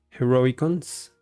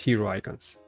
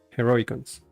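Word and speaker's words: Heroicons: and by the way I learned that it's pronounced heroic cons heroic cons heroic cons not hero icons heroic cons I think yeah let's do this one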